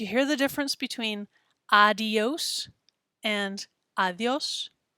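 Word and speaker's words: adiós: between adios and adios adios sounds a little funny to spanish speakers if we add that extra syllable in there and say adios so just be careful how you pronounce that one it's adios adios we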